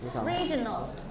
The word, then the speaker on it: regional: Regional. Nó vui mà. An adjective and it means thuộc về khu vực. The stress is on the first syllable.